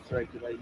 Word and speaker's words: Therapia Lane: I should be in between the Beddington Lane tram stop and the Therapia Lane. Is that how you say it? Therapia? This is Therapia Lane, yes.